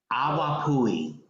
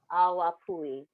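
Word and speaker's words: awapuhi: How do you pronounce it, though? Awapui. Awapui. Awapui, yes.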